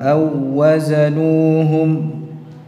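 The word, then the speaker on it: أَو وَّزَنُوهُمْ: um jadi aazanuhum Awa ini membacanya Jangan ditahan Awa salah aazanum seperti membacanya dengan satu wau J di sini bertemu antara dua huruf yang sama wau ketemu wau dibaca seperti mengucapkan satu wau yang bertasydid dari jenis wau yang kedua ya Jadi huruf yang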